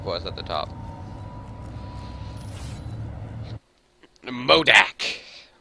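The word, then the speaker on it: MODOK: us at the top modak or modoc i don't know how it's pronounced or mold doc muldack actually i say modak okay watch out there's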